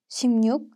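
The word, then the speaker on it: 십육: the rules of assimilation luke becomes nuke after consonants except for rior so 16 is pronounced as shimnuk and 106 is pronounced as pengnu 30.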